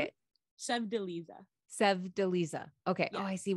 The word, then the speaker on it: Sevdaliza: And Prelude by Ali Azimi, and Lamp Lady by Sevdaliza. That's very close. Yes. Okay. How would you say it? Sevdaliza. Okay. Yes. Oh, I see where it should have a. Okay, I see the syllable.